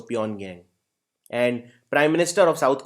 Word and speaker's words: Pyongyang: Please note, won is also the currency of North Korea, but North Korea's capital is Pyongyang or Pyongyang, but just G is silent, so Pyongyang.